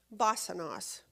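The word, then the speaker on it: βάσανος: Basanos. Basanos is the way that's the way it's pronounced.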